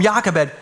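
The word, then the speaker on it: Jochebed: Took me all week to pronounce Yakabed. It starts with a J. Some of you are like, "Is that a hard J? How does that work?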